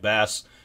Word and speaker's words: bass: is the bass clef bass yes is spelled BA SS it looks like bass pronounced bass so the different clefs